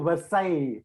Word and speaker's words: Versailles: called the treaty of versailles that's how the french pronounce it is a small town